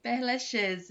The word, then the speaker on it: Père Lachaise: Tá certo, dona Vilane, Père Lachaise, é isso mesmo.